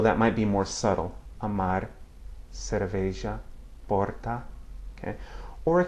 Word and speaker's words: amar: At the end of a word or a syllable, it can have that same sound, a single flap of the tongue. Listen. Amar, cerveja, porta, okay?